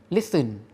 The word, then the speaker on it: listen: ไป แล้ว เนาะ ว่า เรา จะ ไม่ ออก เสียง ตัว ที นะ ครับ เรา จะ ออก ว่า Listen Listen นะ ครับ ไหน ลอง ออก เสียง ตาม 1 ครั้ง very